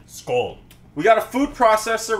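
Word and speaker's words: skål: Or how they say it in the Swedeland, skull.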